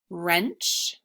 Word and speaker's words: wrench: So WR says the W is silent. And this happens at the beginning of words.